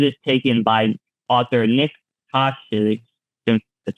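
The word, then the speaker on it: Tosches: City, where it is taken by author Nick Koshik, that's how you pronounce that, after he's asked to verify its authenticity.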